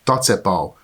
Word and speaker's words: tacepao: The Hungarian pronunciation is simply following the way it is spelled, and so it is pronounced Tacepao with a strong accent on the first syllable.